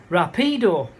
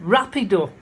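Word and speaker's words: rápido: word quick in it, which I pronounced as rapido. No idea what I was talking about. And then after about 10 seconds, oh, you mean rapido. So the push is in the wrong place.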